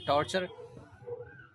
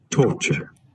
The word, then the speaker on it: torture: torture, टॉर्चर, टॉर्चर, देखिए ओ है, ओ, टॉ नहीं, टो, देखिए torture, टॉर्चर, टॉर्चर। Next torture, टॉर्चर, torture, टॉर्चर, टॉर्चर। Clear, इसमें आर प्रोनाउंस करेंगे अमेरिकन वाले में, ठीक है।